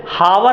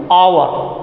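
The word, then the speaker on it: hour: है, यच यहाँ साइलेंट हो जाता है, इसका प्रोनाउंसिएशन ओ से निकलता, ऑनेस्ट। जैसे हावर हम नहीं पढ़ेंगे, आवर, जैसे ये यहाँ से इसका कंठ से समझ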